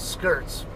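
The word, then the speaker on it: Schertz: when I try to pronounce it the proper way, which should be an SC, not an SH sound. So yeah, I always call it skirts, like wearing a skirt.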